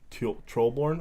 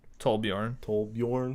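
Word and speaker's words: Torbjörn: But yeah, no, he's Trollborn. I always say it wrong. Tollborn. Tollbjorn.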